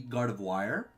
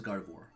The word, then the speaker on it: Gardevoir: It sounds phonetically like it'd be Gardevoir, but it is Gardevoir.